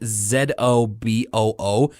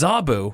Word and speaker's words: Zoboo: the way it's spelt because it sounds like if you were to write it out it would be like z-a-b-u but of course when i was a kid i used to always watch with the closed captions on and they would spell it out z-o-b-o-o so it's like zoboo so like that's like no that's but it's it's zaboo it's my direct-to-dvd sequel